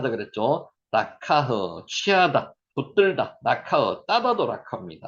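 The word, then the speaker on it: לקח: 드러내신다서 1장 10절 말씀입니다 단어 하 그죠 들다 라카흐 따도 카입니다 라카흐 지난번에 그 공부했는가 모 발음하는 거 모르시면 다시 한번 지난 강의 한번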